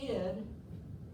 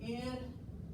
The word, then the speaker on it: id: The id, and that's pronounced the id, not the ID.